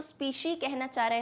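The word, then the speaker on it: species: कोई अगर complicated word लगता है, जैसे स्पीशी, स्पीसाई मत कह देना इसको, स्पीशी।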